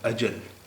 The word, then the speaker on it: अजल: जो है वो है अजल इसमें जे के बजाय जीम है अजल अजल अजल अजल अजल का मतलब